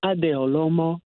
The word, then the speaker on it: Adeolomo: so much for having me I hope I'm pronouncing your name correctly yes it is yes my full name is adeolomo so everybody just calls me okay